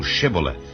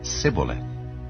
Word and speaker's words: Shibboleth: If he said Nay, then said they unto him, Say now Shibboleth. And he said Sibboleth, for he could not frame to pronounce it right.